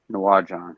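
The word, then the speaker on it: Naujan: try to pronounce it's called um it's sank off of najawan n-a-u-j-a-n Town yeah Noah John yeah no John yeah okay yeah it's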